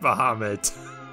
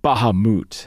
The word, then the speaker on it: Bahamut: give it to me so you're not mohamed no it's bahamut it's pronounced bahamut boo hammett oh five